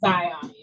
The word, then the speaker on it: Ziani: I give you 90%. It's actually pronounced Ziani. Ziani. Okay, thank you for correcting me. It's a beautiful name. Ziani. Everybody says it that way, so it's okay.